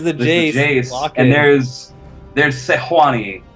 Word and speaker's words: Sejuani: jace and there's there's sejuani that's actually how you pronounce it uh if you sit in the live design area is sejuani uh and it looks